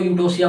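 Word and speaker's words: Eutocia: You word ज़्यादातर यूज होता है इनके अंदर, ई साइलेंट है, यू बोला जाएगा। नॉर्मल लेबर प्रोसेस को यूटोसिया बोलते हैं।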